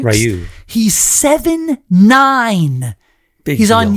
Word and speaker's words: Rioux: I know the X is silent there. Rioux, right? Rioux.